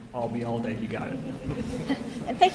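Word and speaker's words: Ayalde: okay what was that if you uh remember the phrase I'll be here all day and drop it here I'll be all day you got it and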